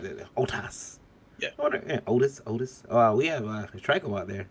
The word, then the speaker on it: Otis: That's OTIS. Yeah. But it's still the same pronunciation. Otis. Mhm. Otas.